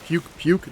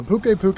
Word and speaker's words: Pukei-Pukei: the language barrier because the native pronunciation is essentially the same thing except for us they threw in an extra eye at the end because i guess puke puke just isn't as elegant puke puke they are very territorial